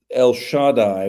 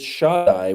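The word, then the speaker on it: שַׁדַּי: and he blesses Joseph, and he says, El Shaddai will give you the blessings of breasts and womb.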